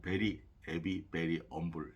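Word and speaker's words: Very 'Eavy... Very 'Umble: 근데 이제 이걸 이제 그 영국 사람들은 이제 그 발음을 그 H 앞에 그 H 발음을 안 하기 때문에 일부러 그 H를 빼 가지고 베리, 에비, 베리, 엄불 이렇게음 그 일집명을 정했다고 하는데 그 두 번째 단어 있죠?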